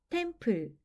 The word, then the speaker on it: temple: p 는 "p", l 은 "l" 이며 , 끝 의 E 는 묵음 입니다 . "te" 와 "m" 은 함께 "tem" 처럼 발음 됩니다 . "p" 와 "l" 은 함께 "ple", 즉 temple 처럼 발음 됩니다 .